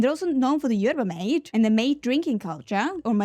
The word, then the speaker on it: yerba mate: And they're also known for the yerba mate and the mate drinking culture.